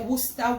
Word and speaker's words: Worcestershire: I pronounce it Worcestershire. I pronounce it Worcestershire. You say Worcester, whatever. Do it your way, pronounce it your way. My way is Worcestershire.